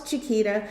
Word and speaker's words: Chiquita: and they would say, "How do you say your name?" And then I would say, "Oh, it's Chita."